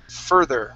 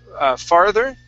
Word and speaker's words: further: And this word here is, I'm sorry, not instructor, but further right here. Instead of farther, it's fur, further.